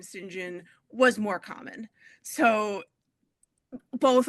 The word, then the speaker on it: St. John: It is an English name, and the English name is pronounced Sinjin.